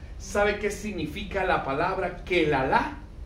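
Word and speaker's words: קללה: Pero en hebreo la palabra para maldición se dice kelalá.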